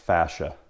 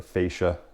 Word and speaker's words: fascia: So that could either be a gutter, or behind the gutter is what's called fascia, or fascia, depending on how you say it.